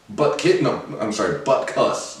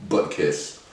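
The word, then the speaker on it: Butkus: winner of the 2018 Butt Cuss, not Butt Kiss award. Get it right.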